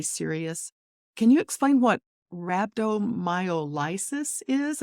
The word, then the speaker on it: rhabdomyolysis: Can you explain what rhabdomyolysis is? And I'm not even sure I'm pronouncing it right. That's the correct pronunciation, and a lot of times we just call it rhabdo.